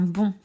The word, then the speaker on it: bond: Exemple, je prends le mot bon, faire un bond. La lettre muette, c'est le D. Parce que si je transforme le nom bon en verbe, bon deviendra bondir.